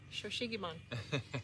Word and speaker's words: Shou Sugi Ban: Shou Sugi Ban.